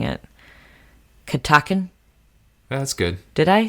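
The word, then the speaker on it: Catoctin: I know you wanted me to say it because I always mess it up when I'm pronouncing it. Katakin?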